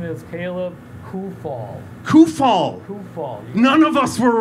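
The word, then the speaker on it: Kuphall: call me anything you want but the correct pronunciation is caleb who fall coofall none of us were right just so you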